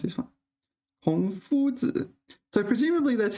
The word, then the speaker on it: 孔夫子: How do you pronounce this one? 孔夫子.